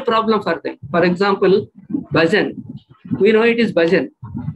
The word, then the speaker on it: bhajan: For example, bhajan.